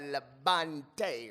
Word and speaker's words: Labonte: Labonte. Not La Bamba, but Labonte, right?